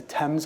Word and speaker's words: Thames: I see the Thames, as my colleague Susan told me, it's the Tems, I think, is the way to pronounce it.